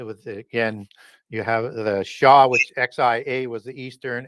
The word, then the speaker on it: Xia: And that was the bloodline of the Shah dynasty, Xia, as it's spelled. Xi comes from the western branch of that bloodline. It was, again, You have the Shah, which XIA was the